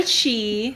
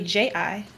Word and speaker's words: chi: Well, it's kind of like Tai Chi. Yeah. Like everyone says chi, and it's spelled here around CHI. Yeah. But it's really JI.